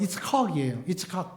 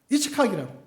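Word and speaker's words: יצחק: 이삭의 본 발음은 이츠카이에요. 이츠카이라고.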